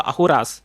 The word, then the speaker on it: Ahura: 16 lands of the Ahuras. That is the Zoroastrian call themselves as the Asur Ahuras. Of course their pronunciation is Ahura but we call them Asura.